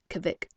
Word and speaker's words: Kavik: you call him kavit carly pronounced it kavik it's eskimo for wolf wolverine odd name for